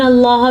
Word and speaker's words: اللہ: پڑھا جاتا ہے، اور اگر لفظ اللہ سے پیچھے والے حرف کے نیچے زیر ہو تو لفظ اللہ باریک پڑھا جاتا ہے، جیسا کہ کل کے